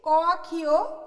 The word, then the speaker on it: কক্ষ: এখানে দুটো শব্দ লিখেছি, ক ক্ষীয়, দ ক্ষীয়। দেখো ক এর পরে ক্ষীয়, এটাকে আমরা শুদ্ধ যে উচ্চারণ করব সেটা হচ্ছে কক্ষ, কিন্তু এটাকে আমরা ভুল উচ্চারণে বলে থাকি কক্ষ, সেটা কিন্তু হবে না, এটাকে আমরা কি উচ্চারণ করব, কক্ষ।